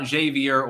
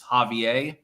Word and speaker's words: Javier: I'm pronouncing that correctly it's not Javier or zavier it's Javier I believe under the local pronunciation in Argentina he's the front runner